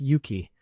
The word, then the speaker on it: Huki: The names indicate as much, Huki in Norse would be pronounced Yuki, which would readily become